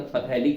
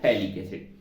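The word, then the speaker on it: phthalic: थोड़ी सी अलग है पीएच यहां पे साइलेंट रहता है वैसे पीएच के साथ पढ़ देंगे तो फैलिक एसिड हो जाएगा ये होता है थैलिक्स देन दिस इज कॉल्ड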